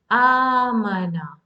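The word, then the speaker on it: أمانة: Amana. So that's how you pronounce amana. That means I have to prolong the sound of hamza.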